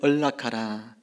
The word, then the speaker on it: 언락하라: 묶인 인생을 언락하라. 이 발음이 좀 잘 안 되죠? 혀끝을 저 입천장 앞에 대야 돼요. 언락하라 이렇게 돼.